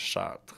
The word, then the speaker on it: Chartres: The town's name is Chartres, which is Chartres. hilarious. It's like you shit your pants if you Chartres. sharted. Yeah, Yeah. but it's spelled Chartes, so it's like Chartres, but Right. you say Chartres.